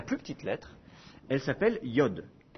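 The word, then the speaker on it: יוד: lettre c'est la plus petite lettre elle s'appelle Yod Yod et elle s'écrit en français elle correspond au y en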